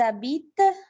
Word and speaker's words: habitent: Ils habitent, je ne prononce pas ENT.